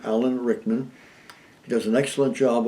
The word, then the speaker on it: Alan Rickman: Is that correct, the way I pronounce the name? Alan Rickman.